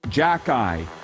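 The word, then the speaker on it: Xhekaj: And regarding that Montreal Canadiens prospect who none of us knew who he was, from Bugman watching on Twitter says it's pronounced Jack-Eye. Arbor Jack-Eye.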